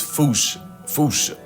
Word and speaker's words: fossa: Because their name comes from the original Malagasy word, and apparently the correct way to say it is Foosha, like foosh with a performance anxiety at the end.